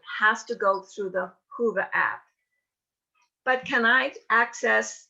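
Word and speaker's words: Whova: because every registrant has to go through the hoover app but can i access the hoover app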